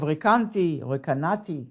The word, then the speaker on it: Recanati: So according to that opinion, that is expressed in the Pardes and the Reb Menachem of Recanati, how you say it in Italian, Recanati. But, so what's the difference between the Kelim, the Oros, so what does it mean?